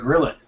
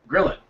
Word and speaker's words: Gillet: to this it's Jared gillet gillet which now that I see that that's how you say it it makes a ton of sense so interestingly he says it is French uh but we don't pronounce it that way anymore so yeah okay so yeah if it was French you'd pronounce it Grio or gillo um two I guess Gro because there's two L's but uh yeah we'll